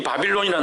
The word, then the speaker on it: 바빌론: 지금도 있지만 CCM 차트에 그 1등을 하면 미국이 정말 이게 유명하니까 우리 많이 번지고 세계적으로도 많이 번졌는데, 이 바빌론이라는 노래가 뭐냐면, 바벨론을 그 원어적으로 발음하면 바빌론이 되는 거예요.